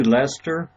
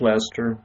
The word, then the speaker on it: Leicester: work it is so okay are used to Lester I have a friend that goes to school in Leicester so I always wear mispronounce Lester okay guys I'm right here ok so right